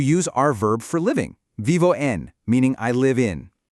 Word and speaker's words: vivo: Instead, it sounds like a soft, smooth mix of a B and a V. It's a very relaxed, flowing phonetic sound. Vivo.